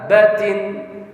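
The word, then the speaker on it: دَابَّةٍ: Nah, cara membacanya dabbatin bukan dibaca seperti ini, salah. Dabbatin. Enggak. Karena ini ba ini ada 2.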